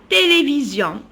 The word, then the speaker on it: télévision: livres je regarde la télévision alors regardez j'ai commencé par le t majuscule télévision toujours le s entre deux voyelles se prononce toujours z s entre deux